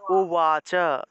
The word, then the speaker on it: উবাচ: উবাচ আছে, আমরা উচ্চারণ করব উওয়াচ উওয়াচ।